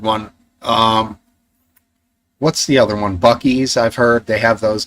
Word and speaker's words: Buc-ee's: Buc-ee's. Yeah, John, but it's Bucees, I think. And it should be Bussies, I think, if you were to pronounce it like that.